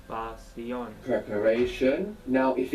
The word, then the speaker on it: pasión: Pasión. Pasión. Pasión. Good, and you pronounce the S, because we don't write sh. Pasión.